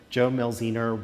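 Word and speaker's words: Jo Mielziner: now into production this is from the artist joe mel zener i this is the tricky name to pronounce but it's it's a really important one in the American theatre Joe Mills ii nür was one of the great american scene designers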